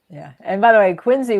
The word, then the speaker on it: Quincy: And by the way, Quinsey, we both learned at least I learned even though I spent time up there is it's like John Quincy Adams but it's But you don't.